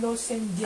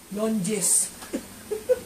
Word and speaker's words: lozenges: Ano, lozenges. Ano ba sabi ko? Longes. Longes. Ang pulis mo eh. Lozenges nga.